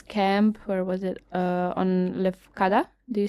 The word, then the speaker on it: Lefkada: On Lefkada.